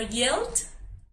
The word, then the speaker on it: yelled: Entonces, como termina en doble L, agregamos la ed y suena solo el sonido de la D. ¿Listo? Yelled. Si se dan cuenta, no suena el sonido de la E.